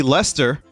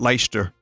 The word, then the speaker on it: Leicester: is lanchester i see lester that's how you pronounce that right it's not light it's i think it's lester it's not leicester um so now i